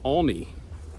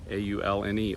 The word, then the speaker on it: Aulne: Fortunately, someone who grew up and lives here saw me and came over and said it's pronounced Aulne, A-U-L-N-E, Aulne.